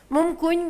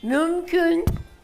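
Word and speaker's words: mümkün: Мумкунь говорим, а нужно же... Ты говори мумкунь на своем диалекте, и дома, и где хочешь. Но лекцию ты читаешь, ты должен сказать так, как написано. Мюмкюнь не соблюдаем.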